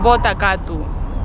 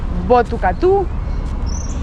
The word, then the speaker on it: Botucatu: Pero el nombre correcto es Botucatu, con el acento, y es una palabra